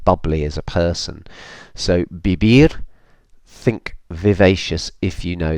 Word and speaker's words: vivir: Vivir. The V's are pronounced like a B, remember? Vivir.